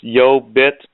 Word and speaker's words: YoBit: about yo bit is spelled yo as in yo yo and then bit as in Bitcoin so it's yo bit net hey by the way